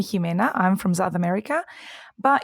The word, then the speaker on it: Ximena: Well, actually, I'm surprised that you know how to pronounce the Spanish X, because it depends on where you're from. If you're from South America, you will call me Ximena.